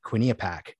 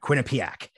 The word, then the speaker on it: Quinnipiac: to hear you discuss the recent quina quinia pack paul i pronounced that wrong i never got it right yet but yeah quinnipiac paul it's one of those